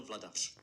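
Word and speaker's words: Vladař: But apparently that little upside down arrow over the R is supposed to be SH, because I just looked it up on Elite Prospects, and the pronunciation is in fact Daniel Vladash.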